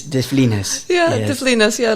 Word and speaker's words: de Flines: Yeah, because I almost said de Flines, but it's de Flines.